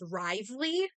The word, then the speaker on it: Wriothesley: In game they pronounce it as Risley, which I'm not sure which pronunciation that's pulling from, because that is a British word. It's a British surname, which is pronounced as Riosli. But it might be French that it's pronounced Risley, but I I'm stubborn and I call him Riosli.